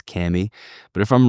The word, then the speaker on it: Kami: Some people still pronouncing it Kami. Pretty sure we've settled the proper way is Kami.